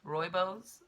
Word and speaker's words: Rooibos: I've got some tea Rooibos Roy bows I believe is how you pronounce it it's quite delicious